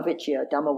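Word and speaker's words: dhamma vicaya: States's dhamma which yeah my pronunciation is not great but it's v.i.c aya dama Vicki Adama which iya and that's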